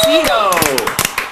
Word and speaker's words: Cito: Welcome, Jeffrey Cito, whose name rhymes with Nito.